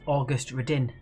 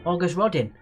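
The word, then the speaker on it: Auguste Rodin: made of which metal i believe it's pronounced august redin august rodin stick your august rod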